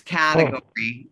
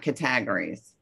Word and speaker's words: category: But one word, categories, is the major stress is on the first syllable. So it's category, not categories.